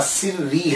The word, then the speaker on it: سری: ہے۔ تو دیکھیے کہ اگر ان کا نام سر الدین ہے تو پھر ایک پروننسیشن اور مشہور پروننسیشن جو ہے، تلفظ جو ہے وہ ان کے نام کا سری ہے۔ سر الدین سری، سر